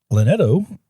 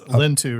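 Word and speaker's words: Linteau: Lineto, I guess that's how you say it. I'm not. Lintu, remember? Lintu, yeah, I can't read my own writing.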